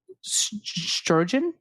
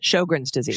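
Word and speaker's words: Sjögren: quote, "Pervasive sharing of causal genetic risk factors contributes to clinical and molecular overlap between uh strogen uh shogans. Shogun's disease Shogun thank you.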